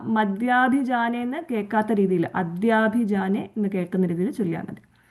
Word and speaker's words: അദ്യാഭിജാനേ: ഇത്യേവം പൂർവമാലോചിതം അജിതമയാ നൈവം അദ്യാഭിജാനേ. ഇവിടെ രണ്ട് കാര്യങ്ങൾ ശ്രദ്ധിക്കണം. ആലോചിതം അജിതാണ്, അല്ല മജിത എന്നുള്ള ഒരു ഉച്ചാരണം വരാതെ സൂക്ഷിച്ചാൽ മതി. ആലോചിതം അജിത. അതുപോലെ മയാ നൈവം അദ്യാഭിജാനയാണ്, അല്ലാതെ മദ്യാഭിജാനേന്ന് കേൾക്കാത്ത രീതിയിൽ ചൊല്ലുക. അതായത് അദ്യാഭിജാനെ.